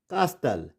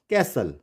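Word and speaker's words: castle: T silent होगा जैसे इट्स नॉट कास्टल इट्स कैसल कैसल एंड इस इट इज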